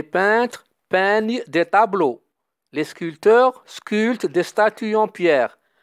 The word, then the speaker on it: sculpteur: peignent des tableaux les sculpteurs sculpte destin qu on pierre attention sculpteur le pays ne se prononcent pas donc 10h30 visite de